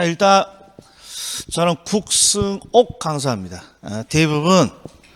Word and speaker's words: 국승옥: 자, 일단 저는 국승옥 강사입니다. 대부분 발음이 어렵습니다.